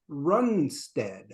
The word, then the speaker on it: Runestad: hello we are back with our guest Anders runstead correct correct correct pronunciation uh and I uh have briefly changed